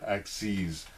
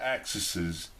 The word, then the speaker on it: axes: than one axis then we would say two axes we actually pronounce axes not axises don't go to your math teacher be like oh I've got two axises no it's axes okay so you're either